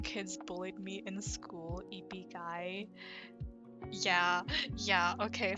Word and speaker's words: ibigay: JJ, me when kids bullied me in school, ibigay. Yeah, okay, so in Tagalog, the I, it's pronounced I.